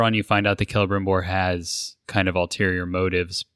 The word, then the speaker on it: Celebrimbor: Is it C? Is it a soft C? I thought it was Celebrimbor. Yeah, I think it's Celebrimbor, like with the hard C.